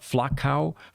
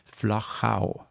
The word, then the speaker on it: Flachau: So it is not Flachau, or anything like that. You have to be able to use the German and the Austrian pronunciation. It's Flachau.